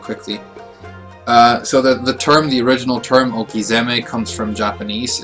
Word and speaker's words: Okizeme: And the reason it's pronounced Okizeme with a Z and not an S, not Okiseme, is when you do this, when you combine words like this in Japanese, the first letter of the second word often changes its pronunciation. So S's become Z's, H's become B's, K's become G's, and so on.